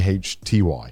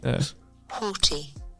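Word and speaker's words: haughty: a WT y i h a u g h t y oh oh English right English language I'll play the pronunciation for you hty yeah hty oh I'm getting turned on from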